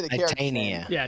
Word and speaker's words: Titania: Titania. Yeah, Titania. Hey, I said it wrong too. I was like Titania like originally, so I put the wrong emphasis on the wrong syllable.